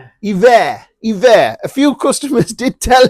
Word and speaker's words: Hiver: It's Hiver. A few customers did tell us that. It's Hiver. Remember, all these products are French.